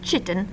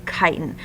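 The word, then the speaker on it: chitin: arthropods and fungi I know that looks like chitt but it is pronounced kiten so that outer shell that you see on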